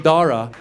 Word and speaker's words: Dara: They're like, you know, your son, I go, there's no cha. Where'd you see the cha? The H is silent.